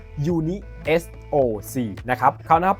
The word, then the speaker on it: UNISOC: Uni SOC นะ ครับ อ่าน ออก เสียง แบบ นี้ นะ ครับ ว่า Uni SOC นะ ครับ เขา นะ